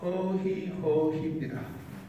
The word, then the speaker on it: 허희: 문상객들이 하는 것은 의의 의가 아니고 원래 발음은 허희 허희입니다.